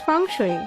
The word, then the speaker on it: Feng Shui: Feng Shui, usually pronounced as Feng Shui, is a 3,000-year-old Chinese technique of bringing happiness, health, wealth to the occupant.